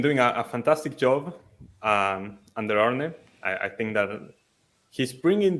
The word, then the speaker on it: Arne: No, I think that we've been doing a fantastic job under Arne. I think that he's bringing the best of these players. Slot, not Arnie. It's not Arnie. It's Arn. That's how you pronounce it.